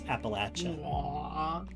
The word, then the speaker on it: Appalachia: good you're a good it's Appalachia you got to pronounce it right or I'll throw this Apple at you I look cool Locus